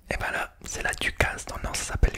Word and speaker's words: ducasse: utilisé également, que dans le Nord c'est la ducasse. Alors qu'est-ce qu'une ducasse? Alors c'est une foire au manège. Donc vous connaissez la foire de Paris, manège, etc. Et ben là c'est la ducasse, dans le Nord ça s'appelle une ducasse.